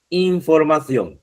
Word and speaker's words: información: Información. Esta, aunque también en España la C se pronuncia como Z, pero se escribe con C, ¿ya?